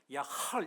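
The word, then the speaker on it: יחל: 하나는 이 발음을 잘해야 되는데 우리말로 야할 이러면 안 되고 약간 이렇게 끓는 마무리하고 히브리어기 때문에 야할 이렇게 발음해야 돼요.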